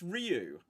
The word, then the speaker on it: Ryu: the Street Fighter movie they clearly say rayu and why you defending that movie before 1994 why are you defend so how are you how are you supposed to pronounce it right well apparently it's Ryu but when you watch